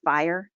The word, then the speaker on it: FHIR: is the FAST Healthcare Interoperability Resources, FHIR, or pronounced FHIR data model.